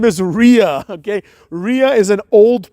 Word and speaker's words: Rhea: you know and also Ria rhymes with diarrhea so that's all I